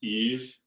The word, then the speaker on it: Yves: It's Eve, like Christmas Eve. Oh, okay. Pons. Oh. So no S at the end of Eve, but there's an S in Pons.